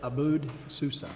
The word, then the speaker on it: Abu Susa: abound Sansa s what AB Susa say it Abu Susa for that name and